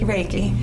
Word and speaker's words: Reiki: One of the things that I also noticed was that you have Reiki, is that how you pronounce it? Reiki, yes.